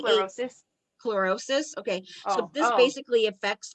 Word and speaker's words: chlorosis: anemia which is uh chlorosis or how do you pronounce that Dre Clos closis it's C closis chlorosis okay so this basically